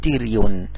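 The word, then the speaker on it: pterion: هذه الدايره السنتر بتاعها يسموه تيريون، تيريون البي سايلنت، وهذه منطقه خطيره لانها تماثلها من الداخل، يناظرها من الداخل شريان خطير اسمه فرانتال بلانت اوف ذا ميدل منينجيال ارتري.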